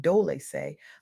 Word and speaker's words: Dolce: I'm your host, Dolce, pronounced Dolce, like sweet softness whispered in French, and I'm your guide